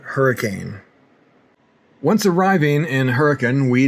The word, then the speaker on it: Hurricane: George into Hurricane, and yes, I'm told that it's pronounced Hurricane or Hurricane, but never Hurricane.